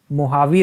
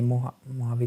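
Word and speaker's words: Mojave: मोहावी रेगिस्तान में। मोहावी का स्पेलिंग ये नहीं होता, मोहावे रेगिस्तान में इसका सफल परीक्षण हुआ।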